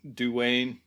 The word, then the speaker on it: Duane: But Dwayne is spelled interestingly. It's Duane. So that's why, you see a name like that, you're tempted to say Dwayne Dunham. Yeah. I think it's just Dwayne Dunham.